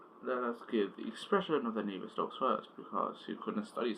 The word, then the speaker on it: Navier-Stokes: It's pronounced Navier-Stokes, and it's kind of quite confusing.